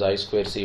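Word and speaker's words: I²C: focus on this inter integrated circuit that is I square C bus yeah now I squared C bus already as I already told it's pronounced as I square C it is a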